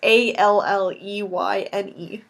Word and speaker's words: Alleyne: Is it Zoe Aline? Is that how you say it? They never say it on the show, so I don't know. Zoe Washburn from Firefly. It looks like it could be Alan or but I imagine it's Elaine. Elaine, probably. It's one of those names. It's Alleyne.